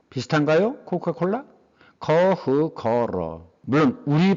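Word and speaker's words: 可口可乐: 이게 중국 발음으로는 커흐거러랍니다. 비슷한가요? 코카콜라? 커흐거러.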